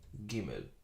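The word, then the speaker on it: גימל: Without it, G. Just the Gimel by itself is G. Gimel.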